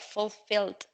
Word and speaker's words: fulfilled: in the archives but here as it's double l it's like the verb to fill so it's pronounced full filled okay fulfilled aim on us just